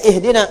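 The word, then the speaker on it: اهدنا: Ihdin ihdin dibacanya ihdina.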